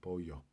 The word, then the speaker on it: pollo: Pollo got two L's in it, but you pronounce it pollo.